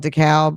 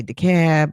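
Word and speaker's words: DeKalb: you're from New York we call it dcal right um uh but you know in other places they say the cab like in Georgia so it's D uh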